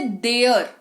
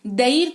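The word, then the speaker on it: there: यहां पर ए का उच्चारण है। देयर ऐसे बोल रहे हैं। देर थोड़ी ना बोल रहे हैं। लिखा तो देर हुआ है। है ना? देयर लिखा हुआ है। देयर इसको तो देयर पढ़ना चाहिए हमें।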